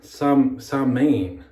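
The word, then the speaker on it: Samhain: This is pronounced like Samain. It's pronounced with an M, and I Googled it.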